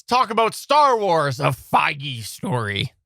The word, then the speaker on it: Feige: It's Kevin Feige.